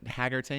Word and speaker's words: Hargitay: and Mariska Hargitay, is that how you say it? Mariska Yeah. Hargitay. Hargitay.